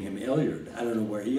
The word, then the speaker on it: Elyard: Well, I've got a middle name that I've never heard before since Elyard, E-L-Y-A-R-D. How do you pronounce it?